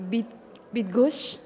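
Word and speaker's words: Bydgoszcz: is quite complicated for foreigners can you please pronounce for us actually I guess it's a bit bit gush yes with goose yeah I finally I learned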